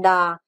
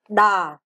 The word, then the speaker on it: đò: Âm đờ đứng trước, âm o đứng sau. Dấu huyền trên đờ âm o. Đọc là đờ o đo huyền đò. Chúng ta đọc trên là đò.